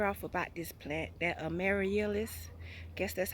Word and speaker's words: Amaryllis: Last but not least, guys, because I've been talking y'all ear off about this plant, that Amaryllis. Guess that's how it pronounces.